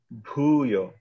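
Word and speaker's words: भूयः: Yeah, so the H is not necessarily like a syllable, but it's more of like a boo. Bhuyo.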